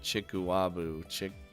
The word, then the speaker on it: chikuwabu: Chikuwabu. What? Is that the one where you slap each other with tubes of chikuabu?